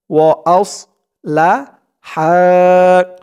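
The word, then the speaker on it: وأصلحا: ফাইং তাবা ওয়া আসলাহা, ওয়া আস, আস, আস বলা যাবে না, আস বললে কিন্তু এই সদের জায়গায় সিনের উচ্চারণ চলে আসবে, বলতে হবে আস, ওয়া আস লা হা, ওয়া আসলাহা।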